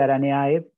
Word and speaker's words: Araneae: clase arácnida y ordenaranea se escribe araneae se pronuncia aranea se puede decir de cualquier forma o directamente araña bueno